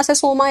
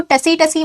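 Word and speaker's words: tsetse: जाता है इंसान, सोना से सोमा याद रखना। इसका जो वेक्टर है वो है सीसी फ्लाइज। इसको टसी टसी मत पढ़ना, सीसी फ्लाइज पढ़ना है इसको, टी साइलेंट है यहाँ पे।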